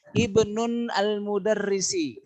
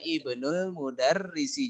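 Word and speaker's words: ابنُ المدرّسِ: Bukan ibnun tapi ibnu. Sehingga dibacanya ibnul mudarrisi. Jadi bukan domatain. Baik sekali. Yang benar berarti ibnul mudarrisi, bukan ibnun al mudarrisi.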